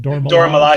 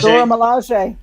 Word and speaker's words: Dora Milaje: Dora Milaje. Dora Milaje.